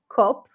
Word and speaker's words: cop: Well, a lot of you might see the word and pronounce that as a pure O, cop, call the cops. Here, it's actually closer to an open A sound, as in the word father or spa, ah. So the lips are not rounded.